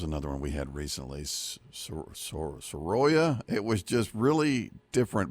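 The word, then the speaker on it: Soraya: r a y a so you say s but I think a lot of people will put the emphasis on the middle and say Sara makes sense instead of s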